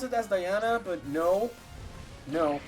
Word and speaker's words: Diana: Yeah, I know people can pronounce it as Diana, but no.